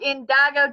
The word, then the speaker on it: Indigo: I think you pronounced it wrong. It's Indigo.